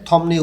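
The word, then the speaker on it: 덥네요: এখানে থমনেয় উচ্চারণ হবে, বিউপের পরে নিউন আছে।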